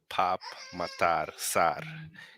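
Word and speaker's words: Pape Matar Sarr: Guys, by the way, his name is Pap Matar Sar. You know, Static always gonna show off how to pronounce names.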